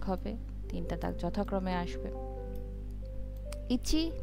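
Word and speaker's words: 一: প্রথমে এক এটা হচ্ছে একটা দাগ থাকবে যেটা উচ্চারণ হবে কিনা। ইচি উচ্চারণ হচ্ছে ইচি।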